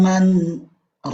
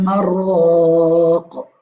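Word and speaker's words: مَنْ رَاقٍ: Wa qila man raq. Salah kalau ada orang yang membaca dengan riwayat Hafiz an Asim tetapi membacanya wa qila marraq. Itu salah.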